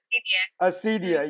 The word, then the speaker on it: Acedia: You'll have to correct me if I'm pronouncing it wrong. Is it Acedia? Acedia? Acedia, yeah.